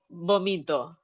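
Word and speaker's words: vómito: Yeah, Ah, vomito.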